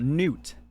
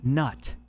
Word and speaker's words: Gnut: to be talking about Newt no it's not nut it is Newt like n-e-w-t except it's spelled g-n-u-t I know weird weird